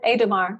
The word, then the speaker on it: Aedamar: Aedamar. And I probably don't say your name right. How do you say your first name? You do, Cherie. Yes, yes, that is Aedamar. Yes, okay. You're pronouncing it perfectly.